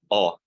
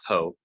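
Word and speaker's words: ὁ: Yeah, o, not ho, but o.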